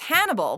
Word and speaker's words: Hannibal: It's a good thing that this character's name is Hannibal, because the only word in the English language that rhymes with it and vice versa is cannibal.